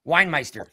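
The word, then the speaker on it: Weinmeister: We e i n e i s t er winemeister.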